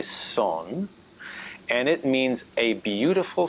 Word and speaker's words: son: also the cuban song which is spelled s-o-n but they say song and it means a